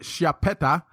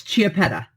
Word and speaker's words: Chiappetta: LA your last name my last name is c h i a p p t t a and you pronounce it and it's chiaa okay an chipa okay yeah she's the